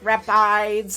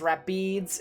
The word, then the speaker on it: Rapides: So, I was just literally like rapides. And then people were saying it's rapids.